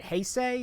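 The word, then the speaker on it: Heisei: probably gonna be the classic what is it hey say is that how you say it yeah it's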